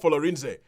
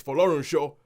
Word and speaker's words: Folorunsho: I mean, even if you just had a scene where the dad turned around and go, it's not Folorinze, it's Folorunsho. Even if you had one